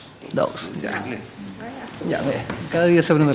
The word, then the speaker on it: Dawes: ¿Cómo se pronuncia? Dawes.